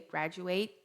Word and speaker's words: graduate: expectation pros meus americanos graduate você não fala o último T graduate e social Security pessoal